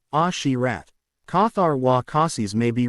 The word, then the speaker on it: Asherat: Asherat may be read as Ashirat.